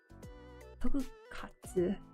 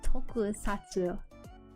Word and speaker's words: Tokusatsu: Tokukatsu. Tokukatsu? How do you say it? Tokusatsu.